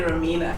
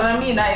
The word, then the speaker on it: Ramina: mean okay um so a lot of people used to pronounce it incorrectly and say romina yeah so ramina is a song of